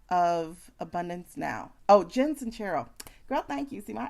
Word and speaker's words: Sincero: It's spelled Sincero, but it's like Italian. So like there's a sound.